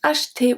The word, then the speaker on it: acheter: This one is very interesting because acheter, we don't pronounce the E in the middle.